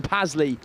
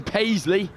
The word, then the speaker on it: Paisley: was number 15, Finn Pasley there, strutting in under, or over in the red zone. Not a great start here for the Oratory men. Just heard I've pronounced that wrong. Finn Paisley is the try scorer for Whitchurch High School.